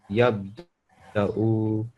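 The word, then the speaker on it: يبدأ: You have pronounced the waw, haven't you? But you just said that you pronounced the Hamza. And this one, I know it looks a bit like a lam. It's actually supposed to be a dal.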